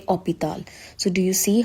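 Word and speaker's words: hôpital: For example, in English we say hospital, but in French we say opital.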